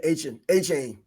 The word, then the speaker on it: Achane: Yeah, Achane.